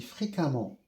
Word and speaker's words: fréquemment: Même si c'est écrit E, je prononce A comme ici, fréquemment, prudemment, évidemment, même si c'est écrit E, je prononce A.